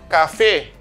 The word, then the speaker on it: café: Papá, papá, café, francés. ¿Comprenden? Papá, café, francés. Ahí se ve, los acentos están sobre la última sílaba.